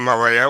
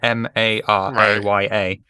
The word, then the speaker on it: Maria: Why do you keep saying Mariah?